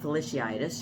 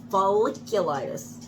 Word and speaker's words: folliculitis: talking about hot tub i said felicia itis she said folliculitis slickyitis foliage because you're talking about follicles so folliculitis that doesn't that does